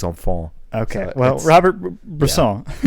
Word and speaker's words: enfants: So But it's like in English it looks like au revoir les infantes, but in French it's au revoir les enfants.